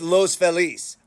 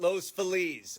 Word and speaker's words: Los Feliz: So, what about Los Feliz or Los Felis?